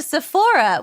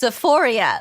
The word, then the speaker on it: Sephora: And she sends, and Kimmy's sending him to Sephora, which he thinks is pronounced Sephoria, like the HBO show Euphoria.